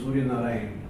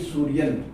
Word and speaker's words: Surya Narayan: The school was run by Spanish missionaries from Spain, and they couldn't pronounce my long name, Surya Narayan, Huh?